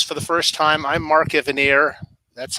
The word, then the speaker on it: Mark Evanier: just joining us for the first time I'm Mark Evanier that's how it's pronounced yes and I've been doing these little